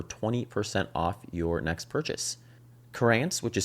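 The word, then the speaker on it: Curanz: Corance, which is spelled C U R A N Z, is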